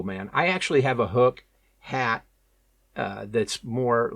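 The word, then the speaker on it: Huk: Um, the first one would be this hook, and it's it's spelled H U K. Hook uh fishing visor.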